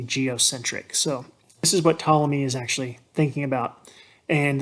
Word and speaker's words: Ptolemy: So it's Ptolemy. It's got a silent P. A lot of students want to say Ptolemy. That is not correct. It's actually Ptolemy.